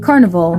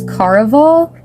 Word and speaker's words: Caraval: And then I read Carnival, and there's actually I think it's Caraval, because it's not spelled carnival. There's no N. It's Caraval. I think that's how you pronounce it.